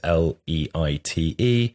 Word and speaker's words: Leite: And Diogo Leite, God knows how you pronounce it. It's Portuguese, Leite.